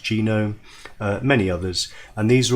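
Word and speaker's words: GNOME: environment or genome I know it looks like known but the section pronounced genome many others and these are all the different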